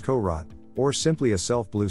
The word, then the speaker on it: Korat: england in 1896 but whether it was truly a courage pronounced korot or simply a self